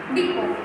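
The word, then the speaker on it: depot: डिपो। क्या होगा इसका प्रोनाउंसिएशन? डिपो। टी साइलेंट है।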